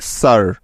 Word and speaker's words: sir: হ্যাঁ, এই শব্দটির সঠিক উচ্চারণ হবে স্যার।